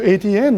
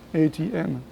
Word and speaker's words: Etienne: one of them found oh sounds like a a t and an then so I'm going to call you ATN now okay great so